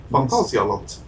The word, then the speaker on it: Phantasialand: So we're going to Phantasialand is the main one. It's fucking incredible. You can pronounce it in the German fashion. Phantasialand.